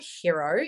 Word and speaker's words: Hiro: But did you know that there is an app called Hero, and it's spelled Hiro, not hero as in Hero, that allows you to create private podcasts.